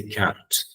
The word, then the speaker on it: can't: find our way home the important thing is pronounce the last letter T very prominently if you pronounce it very PR prominently it will be clear whether you are saying it positive or negatively if it is positive